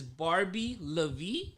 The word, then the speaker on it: Barbie LaVie: bat barbie i see that on ig is barbie lavie yes is that right correct did i pronounce that right absolutely let's start